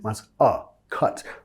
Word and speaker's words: cut: Cut. No cut, más cut. Baja la mandíbula.